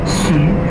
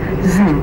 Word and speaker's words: Xu: family name, that's XU, in China we pronounce as Xu. But a lot of people from the foreign countries, they cannot pronounce Xu well. So that's why they pronounce Zu, Zu.